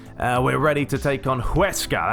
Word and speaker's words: Huesca: We're ready to take on Huesca, that's how you say it, or Huesca, sorry, Huesca is what I've learned of how you say that name.